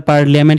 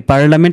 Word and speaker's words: parliament: আমরা তো পার্লিয়ামেন্ট কি বলি, আমরা কি বলি? পার্লামেন্ট। তার মানে আইটা হচ্ছে সাইলেন্ট লেটার।